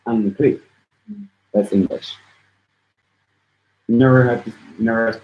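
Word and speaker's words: อังกฤษ: But then a lot of times R's are pronounced more like L's, so it'd be like Angli.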